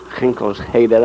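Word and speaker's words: Ginkelse Heide: Now we're on the Genkel Heath, or Ginkelsheder, I think is how the Dutch pronounce it, waiting for the 1st Battalion to drop, who are in those 2 planes there.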